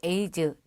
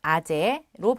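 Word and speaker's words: -ase: 그리고 효소의 이름은 영어로 에이즈 또는 아제로 발음합니다.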